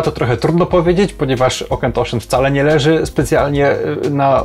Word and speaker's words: Auchentoshan: potężnej marki, jaką jest Okentoshen. Będzie to Okentoshen 12-letni, czyli jedna z najbardziej takich rozpoznawalnych, standardowych wersji, które Okentoshen w ogóle robi. Jest to taka marka, która oczywiście czyta się bardzo dziwnie, o tym już wspominałem